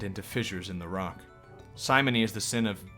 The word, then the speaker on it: simony: fissures in the rock simony is the sin of I think it's simony like the name yeah like Simon like Simon the guy who committed simony yes the sin of